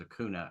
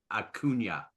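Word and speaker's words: Acuña: be as good as Akuna Akuna you'll never be as good as Akuna and Bryce turns around and says pronounce his name right it's a aunia it's brilliant because because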